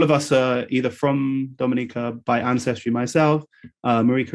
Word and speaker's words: Dominica: know in the eastern caribbean um and the pronunciation dominica just like marika is pronounced uh is in